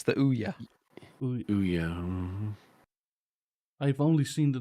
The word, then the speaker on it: Ouya: It's the Ouya.